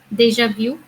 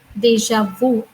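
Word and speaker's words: déjà vu: Deja vu. That means, well, in English they pronounce it as deja vu.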